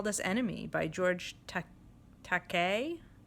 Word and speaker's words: Takei: this enemy by George Takei it's supposed to rhyme with okay tah K so George Takei is